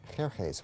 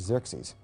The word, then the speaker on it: Xerxes: Well, that was hard for the Jews to pronounce, so they said Ahashverosh. We know him as Ahasuerus. And the Greeks said Xerxes, which is Xerxes.